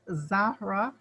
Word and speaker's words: Zahra: So thank you so much, Zahra.